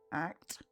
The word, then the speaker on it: ACT: Acceptance and commitment therapy, ACT, pronounced as one word, ACT, has emerged as a